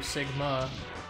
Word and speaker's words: Sigma: I go straight to Sigma that's how you pronounce his name emphasis on the second so Sigma next well